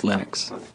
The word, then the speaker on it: Linux: Linus and I really don't care how people pronounce my name but Linux is always Linux as he said again Linux is always Linux